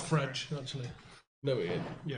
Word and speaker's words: Fred: It's called Fredge, actually. No, it is. Yeah, it is. That's how you pronounce it. Do you? Fredge. Oh, God. Like a fridge, but with an E.